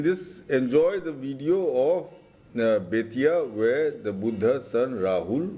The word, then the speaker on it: Bettiah: That is, folks, Betia. Which is mispronounced, which is today sounds similar to Betwa. Betwa means sun. So Betia is sun.